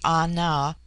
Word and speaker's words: Ana: The word ana pronounced broadly ana corresponds with our plural men.